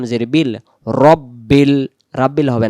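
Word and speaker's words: رَبِّ: আলহামদু লিল্লাহি রব যাব রব বা লাম জের বিল রব্বিল রাব্বিল হবে না রাব্বিল হবে না রব্বিল র র র এমন হবে রব্বিল আলহামদু লিল্লাহি রব্বিল আইন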